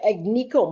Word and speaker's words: Agnico: Yeah, I tell you, Agnico Mines or Anico Mines, that's how, I think that's how they say it. The G is silent.